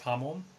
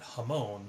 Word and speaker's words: hamon: I mean, you see people call it hamon. It's kind of like Michael Jackson, shamon, but it's actually, if you say it correctly, it's hamon. There's an emphasis on the ha, and the mon is not so much like a moan in English as much as a mon.